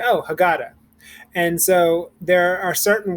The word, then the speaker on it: haggadah: you hear it happy at the end of the word the h is silent so if you go back up let's look at our key word again haggadah it's not ha we